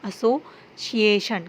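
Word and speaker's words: association: Special, social, officially, delicious, appreciate, एसोसिएशन, एसोसिएशन, सिएशन नहीं पढ़ना, एसोसिएशन। कुछ लोग उसको सिएशन भी पढ़ते हैं, लेकिन वो करेक्ट प्रोनाउंसिएशन नहीं है। अगर आप यूज़ टू हैं तो आपको सिएशन निकलेगा, एसोसिएशन, ठीक है।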